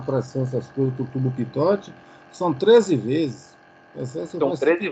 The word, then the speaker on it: Pitot: Você pronuncia tubo de pitote, né? O tubo de Pitot. É isso aí. O seu nome é uma homenagem ao engenheiro francês Henri Pitot. Como é francês, provavelmente a pronúncia seja Pitot.